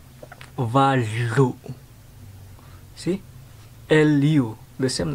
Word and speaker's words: valu: It's valu. See? L-U. The same like the number 3. Valu. V-A-L-U. But L-U behind, not lu, but lu.